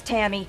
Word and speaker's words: Tammy: right over those guys my name's Tammy that rhymes with whammy and everyone knows that